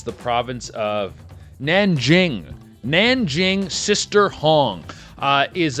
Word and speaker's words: Nanjing: one of the biggest stories in China in Ninjang. Ninjang. How do you say it again? Hold on. Where's I need my thing open here. Where's my thing? Uh, it's it's the province of Nanjing.